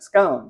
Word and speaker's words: scone: we're going to make scones which I know in the UK it's pronounced scon which sounds really weird to my ear so we're gonna call